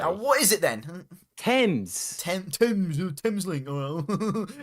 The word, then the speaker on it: Thames: How do you pronounce it wrong? Like? Now, what is it then? Thames.